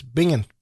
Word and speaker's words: Binghamton: Binghamton.